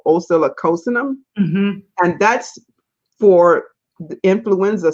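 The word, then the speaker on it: Oscillococcinum: A natural food store would have it, but oscillocosinem is everywhere. Everywhere. I'm just happy to hear somebody actually pronounce it, because we buy it, but none of us know how to say it.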